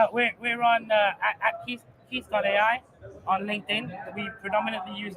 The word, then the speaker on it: KEATH: it is really really easy to use yeah so and Keith is spelled k e a t h yes just let's not make that mistake um and that's because